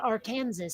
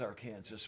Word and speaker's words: Arkansas: but but then again we don't say Arkansas either foreign so yeah I mean the river is our Kansas but the state uh is Arkansas yeah I learned that